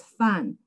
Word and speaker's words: Fan: goes got it but actually in chinese i'm not the fun on the ceiling the pronunciation of my name is fun the meaning of the character actually means sailboat also in china we